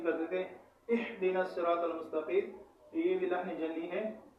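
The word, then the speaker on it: المستقيم: مستقیم نہیں ہے۔ تو اس آیت کا صحیح تلفظ اهدنا الصراط المستقیم، اهدنا الصراط المستقیم۔ اسی طرح انشاءاللہ آپ روزانہ اس کو ہجا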